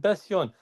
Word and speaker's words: Besyon: I said, Besyon. I should know the team. I said, think Besiktas. Okay, break it down. Besyon, Besiktas, put I-O-N.